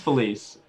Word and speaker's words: Felice: It's just Felice. Felice, how do you spell that? Philees. Felice. All right, Felice.